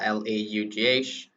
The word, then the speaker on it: laugh: it's a common word most people they pronounce laugh although it's pronounced L-A-U-G-H but we pronounce laugh okay laughing so what